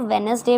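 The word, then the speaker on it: Wednesday: सो वेडनेसडे को आप अभी तक वेडनेसडे तो प्रोनाउंस नहीं कर रहे थे ना. अगर कर भी रहे थे तो नो इशू, आज आपको बता देते हैं कि इसको वेडनेसडे बोलते हैं बिकॉज डी इज़ साइलेंट.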